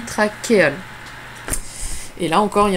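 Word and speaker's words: trachéole: plusieurs petites craquer hall ça s'écrit trash et old mais ça se dit traquer al et là encore il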